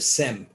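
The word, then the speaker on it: Sejm: europe the parliament in poland was called the sem s-e-j-s-e-j-m that's it's pronounced sem and in parliament that representation of the jewish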